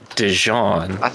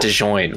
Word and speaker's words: Dijon: it's softly panned to alex's ass it's it's pronounced dijon even though it's spelled d-i-j-o-n it's not dejoined why would it be dejoined that doesn't make